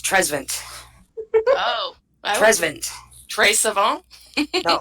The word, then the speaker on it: Trezevant: no, it's Trezvant. Oh. Trezvant. Tres Savant? No, Trezvant. Give it the French pronunciation. Like, it's Trezvnt. There's no vowel there.